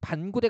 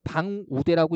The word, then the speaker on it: 반구대: 그 다음에 이항 보시면 발음상 혼동의 우려가 있을 때는 음절 사이에 붙임표를 쓸 수 있다. 이를테면 반구대 같은 경우에 만약에 반구대를 적었을 때요. 그죠? 붙임표를 넣지 않으면 잘못근을 읽으면 어떻게 돼요? 방우대라고 읽을 수 있는 거죠.